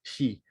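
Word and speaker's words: 死: That is the Chinese character for, in Japanese, the pronunciation would be shi, which means death.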